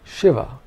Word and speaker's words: Shiva: The first is a palatal sh, sh. This is the sh of Shiva.